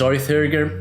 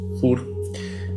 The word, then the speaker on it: Þórr: likely I will pronounce Þórr when speaking of the Norse thunder god. I often pronounce the names of the gods in Swedish because that's how I